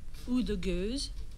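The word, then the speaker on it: Oude Gueuze: Frederic, how do you pronounce that? Ou de Goose.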